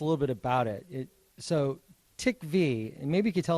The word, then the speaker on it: TiKV: So TiKV actually, so that's the pronunciation of the project.